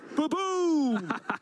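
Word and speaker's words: Ba-Boom!: I can allow it the one thing I I do have to take on bridge with your pronunciation of baboom okay baboom is of of course the correct pronunciation of that card especially when it's taken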